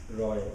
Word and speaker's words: Ray: It's a brilliant essay on Ray's practice, Roy Ray. Apologies to the Bengalis in the audience, where are they? There they are. Obviously, Satyajit Ray in English, known with that pronunciation.